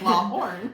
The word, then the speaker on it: Lawhon: I always say it like Law Horn.